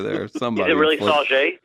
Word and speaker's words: Sauget: Is it really Sauget? It's Sauget. It's a French pronunciation.